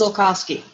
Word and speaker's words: Tolkowsky: a good one too so tell us how is your last name pronounced it is pronounced Tolkowsky there we go for